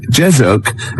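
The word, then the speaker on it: Jezoc: Jezuk is spelled J E Z O C.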